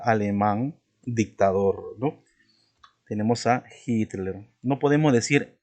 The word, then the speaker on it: Hitler: Su pronunciación como si fuera la J, ¿no?